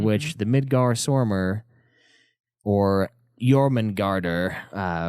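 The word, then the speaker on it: Jörmungandr: the Midgar Stormare or Yurman garter which is how they pronounce it in norse parently was the middle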